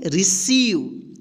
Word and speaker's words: receive: यहां पे देखिए RECEIVE, इसको क्या पढ़ेंगे, रिसीव। यहां पे देखिए EI एक साथ आया है तो इसका ई उच्चारण होगा।